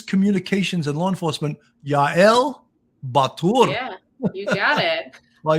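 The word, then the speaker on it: Bar Tur: specializing in crisis communications and law enforcement, Yael Batur.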